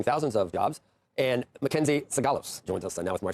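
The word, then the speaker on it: Sigalos: And Mackenzie Sagalos joins us now with more stuff to think every time.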